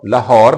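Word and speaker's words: Lahore: I probably go टू लाहौर लाहौर लाहौर नहीं लाहौर क्योंकि आर silent हो जाएगा उसके बाद यह देखें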